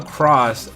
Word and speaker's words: Cross-Z: because when you spell cross, the Z is silent, but the dash Z, like CROSS-Z, that's the official way to spell it.